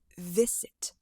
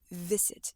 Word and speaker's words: visit: So instead of saying f, you say v, like a motorcycle. And that is how you make the V sound. So instead of visit, it's visit, visit. You can see your teeth when you're pronouncing this word.